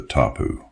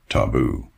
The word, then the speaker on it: tapu: Part of these reforms was what is known as the tapu. That's a word that everyone in Israel knows in its Arabic mispronunciation, taboo.